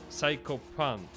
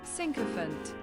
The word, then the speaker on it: sycophant: Psychophant. What's the word? What's the pronunciation? Hold on. Psychophant. Translate. Google. Not a psychopath. He's a... Sycophant.